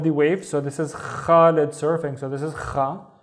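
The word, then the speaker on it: خالد: We have the la with a kasra, so it's actually li, and then the da with no vowel, so it's lid, khalid, Khalid.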